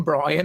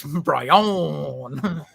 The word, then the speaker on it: Bryon: uh um it's like that's not how you say my name brian and he turns around and he goes it's bryon you know people always